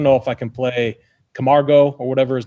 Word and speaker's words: Camargo: How do we say his name? Camargo. Camargo. You said it right.